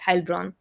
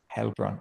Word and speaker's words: Heilbronn: it's EI, it's A usually pronounced. So it's Heilbronn. Heilbronn.